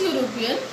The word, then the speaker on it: European: European begins with a vowel, but when we pronounce European, we say YUROPEAN, European.